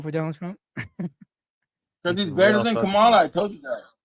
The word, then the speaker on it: Kamala: jack Her name is Kamala. Okay. Kamala. Camela. Camala. Whatever. Okay. Kamala. Do it one more time and I'll kick you. Like you can say Harris if you can't say her name correctly.